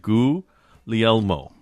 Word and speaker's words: Guglielmo: So, it according to Google, Guglielmo is pronounced exactly like I said it. Guglielmo.